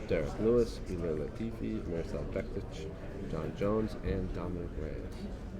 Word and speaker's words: Bektic: Yeah, he said it wrong. It's Bektic. Bektic. He told me.